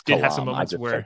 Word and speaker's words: Kalam: Kalam, whatever you pronounce it. It's Kalam.